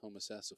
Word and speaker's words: Homosassa: did have to ask him to how to pronounce the name of his his home city that's Homosassa Florida good glad to hear things are getting